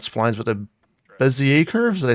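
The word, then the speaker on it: Bézier: After all that bullshit with the spline, or not splines, but the Bezier curves.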